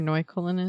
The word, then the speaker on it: Neukölln: Do we know where Neukölln is? It's a neighborhood in Berlin. Okay. Did I pronounce that right?